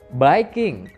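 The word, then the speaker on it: biking: mendongeng kita lanjutkan lagi baikin tulisannya Viking tapi membacanya baikin nah baik ingini adalah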